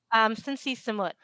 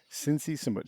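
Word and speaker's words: Sinn Sisamouth: Cincy Samut. Sinn Si Samouth. So Yeah, Sin is the first, and then Cincy Samut is the last name.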